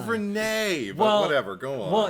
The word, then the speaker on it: Renai: n a i how could you not it's pronounced Renee but whatever go on well isn't the uh James ju he's Australian so maybe it's just oh Jesus Christ like her name's gonna be Reno renoi that's the new is our Australian going Rai